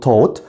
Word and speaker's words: taught: التصريف الثاني taught خلي بالك الجي اتش هنا silent بنقول taught، والتصريف الثالث taught بحفظها كده teach taught ال3 مع بعض.